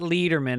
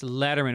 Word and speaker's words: Lederman: My guest is Annie Lederman today, not Lederman. Everybody says her name wrong. It's Lederman.